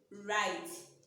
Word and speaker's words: write: We said earlier that words that begins with WR, when we are pronouncing it, the first sound, which is W, will be silent.